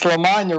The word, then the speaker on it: LaMagna: It's LaMagna rhymes with the lasagna.